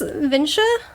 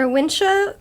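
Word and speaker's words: Wunsche: these it's vincia or winsha brothers cafe and saloon it's like a german name so i don't know if they pronounce it the german way or if they pronounce it like a english way but i'm going to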